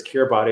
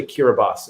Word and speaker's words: Kiribati: talk about the island of kiribati um which is spelled kiribati and i've always thought of it as kirby it's this island in the middle of pacific but it's actually kiribati and he kind of shares a little story